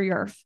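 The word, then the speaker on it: YRF: ourselves as your um rhymes with Smurf so if you can't ever remember it remember Smurf um and that's how you'll remember yourf York rotary Foundation last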